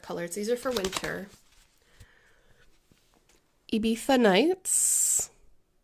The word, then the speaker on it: Ibiza: Ibiza Nights. And yes, you do pronounce it with a bit of a lisp.